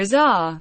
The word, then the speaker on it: Azar: Azhar rhymes with pace are joined Lily in 2007 and